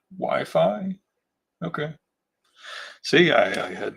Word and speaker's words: waifu: It's the anime girl of some anime otaku's dreams pronounced wifi.